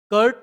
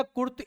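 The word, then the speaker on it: Kurt: कर्ट Lewin जो है, कर्ट या कुर्त एक ही बात है, प्रोनाउंसिएशन का प्रॉब्लम होता है, कुछ लोग कर्ट पढ़ते हैं, कुछ लोग कुर्त पढ़ते हैं।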